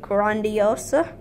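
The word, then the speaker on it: Grandiosa: luck and this is the cruiser on MSC Grande Elsa yes that's how you pronounce it and you have an exit anyway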